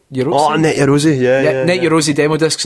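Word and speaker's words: Net Yaroze: Net Eurosi? Oh, Net Eurosi, yeah.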